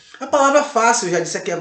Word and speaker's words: fácil: disse aqui a vocês, F-A-C-I-L, fácil. Porque esse I, esse L, ele automaticamente ele faz com que a sílaba ela feche no final. Fácil. Ok? Fácil. C-I-L. Fácil. Então esse A fica em bastante evidência e a palavra fácil ela é acentuada paroxítona.